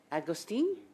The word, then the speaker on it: Agostini: start with Madame Agostini. Did I pronounce that properly? You did. Oh, great.